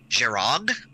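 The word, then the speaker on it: Jhereg: the way it's um the name is JH e ar e G which I pronounce is Jarek now he has a pronunciation guide which I didn't look at into like book three and apparently you pronounced that word something like girag which okay fine except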